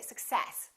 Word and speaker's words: success: at the word success now do we say success or do we say success if you're speaking quickly